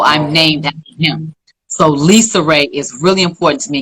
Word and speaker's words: LisaRaye: all hear and see anybody call me Lisa, can you correct them for me, please? I sure So we will. can all unite on that and say my name Lisa right.